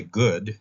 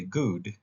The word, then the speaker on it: good: food they don't say good like we do they say good rhyming with food it's good food uh